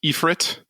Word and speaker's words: Ifrit: iteration of Ifrit I found out that it's pronounced epit from that trailer and the latest iteration of